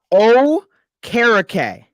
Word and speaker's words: Okereke: It's pronounced Okereke.